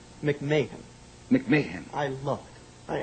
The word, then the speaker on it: McMahon: your dad the movie only only you would pronounce Ed's name absolutely correctly it is not McMahon McMahan McMahan I love it I absolutely love being